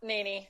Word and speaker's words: Naney: and now I don't know know if I pronounce your last name right NY yep NY NY okay cool Alison NY you are calling